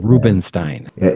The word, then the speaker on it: Rubinstein: s t i n reubenstein Stein is how we pronounce it Jay Steen is how